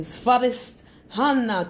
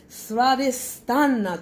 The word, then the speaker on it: Svadhisthana: The Svadhisthana chakra. Hey, I said it wrong. Svadhisthana chakra.